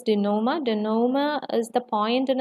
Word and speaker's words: denouement: The correct pronunciation is denouement.